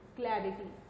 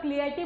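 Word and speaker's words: clarity: क्लैरिटी, क्लैरिटी भी क्लियर जैसा ही है, लेकिन उसकी स्पेलिंग अलग है। बहुत सारे लोग क्लियरिटी बोलते हैं, ये पहले भी मैंने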